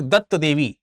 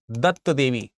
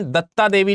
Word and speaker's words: दत्त देवी: कहीं कहीं दत्ता देवी लिखा रहता है, तो मैं फिर से कहूंगा कि दत्ता प्रोनाउंसिएशन जो है वो इंग्लिश का है, हिंदी का नहीं है। तो दत्त देवी का है।